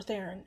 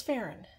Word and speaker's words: Farren: she melts I think is it or Theron it's Farren yes it's Farren I'm sorry for reading